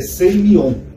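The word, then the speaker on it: σημεῖον: Em grego, esse termo aqui, sinais, é seimion. Tá? Eu vou escrever só como é que se pronuncia aqui.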